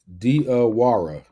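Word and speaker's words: Diawara: Dawara. Diwara. Diara.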